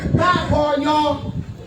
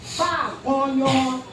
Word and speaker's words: Babonyo: Babonyo. Now you got a right pronunciation. Babonyo.